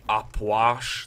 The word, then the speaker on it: Ah Puch: taki z buszu tutaj, nazywa się Apłasz, tak się powinno wymawiać, ale o rany boskie, aż to dziwnie przez język przechodzi.